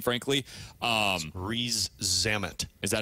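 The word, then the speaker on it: Rees-Zammit: know how to pronounce his name frankly um re zamit is that how you say yeah Louie re Louie ree zamit there you go um he's 23 years old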